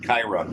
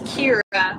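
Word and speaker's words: Kiera: I pronounce it Kyra, but okay. You can pronounce it however you want. I would make a big deal. I would pronounce it as Kira.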